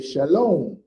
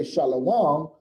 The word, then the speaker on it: shalom: o sound so if you went to israel they would say shalom they would never say shalawang because the y is